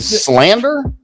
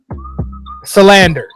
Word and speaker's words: Salander: Yeah, and Slander. Salander. Salander.